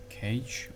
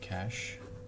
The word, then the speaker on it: cache: I was mispronouncing this it's actually cash it's pronounced as cash so we have cache